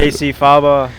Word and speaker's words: Cacyfaba: Cacyfaba. Yeah. Did I pronounce it right? Yeah, Faba's the right way. Yeah. I've heard some weird pronunciations, but Faba's, that's the way.